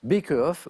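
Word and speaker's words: Baeckeoffe: Pour ceux qui ne connaissent pas le Beckehoff, alors ça s'écrit, mais Victor l'a très bien prononcé, B-A-E-C-K-E-O-2-F-E, ça peut s'écrire avec un K aussi, Beckehoff ou Beckenhoff, accepté aussi.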